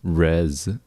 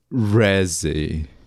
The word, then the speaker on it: Reze: Oh yeah, also like Riz is pretty sexy, but actually I don't even think it's pronounced Riz. Rez.